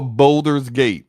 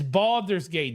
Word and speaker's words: Baldur's Gate: that let's talk about Boulder's Gate it's Baldur's Gate don't say it like that it's you say it